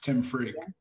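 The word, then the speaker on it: Tim Freke: And in that seeking, I found Tim Freak. I believe that's how you pronounce his name. You did a video with him. Yes, Tim Freak.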